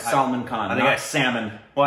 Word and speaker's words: Salman Khan: We finally watched I want to make sure I'm saying his name correctly. Salman Khan, right? Correct, Salman Khan.